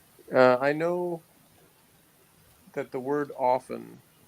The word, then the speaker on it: often: know that the word often the T is silent that's what I know